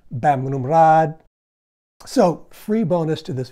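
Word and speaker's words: Bamrungrad: For example, the hospital I just mentioned, Westerners always say Bumrungrad, which is fine with a Westerner, but if you get into a taxi cab and you need to go there, they're not going to understand what you're saying. It's actually pronounced Bamrumrad.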